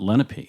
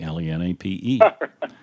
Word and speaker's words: Lenape: is Let It Be we talk am I pronouncing that right I know that must come from the Lenape Indian language yeah we've been saying Lenape we